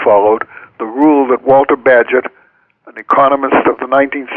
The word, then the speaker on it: Bagehot: Yeah, Bagehot is spelled Bagehot, and Correct. when I was in graduate school, I thought his name was Bagaho, but it's not. It's Bagehot.